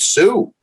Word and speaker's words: Sioux: even pronounce it and he pointed to a word s-i-o-u-x i said sue so it was a